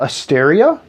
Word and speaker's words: Aestaria: to call it uh asteria a-e-s-t-a-r-i-a i think is my how you might uh pronounce it right now the meaning i don't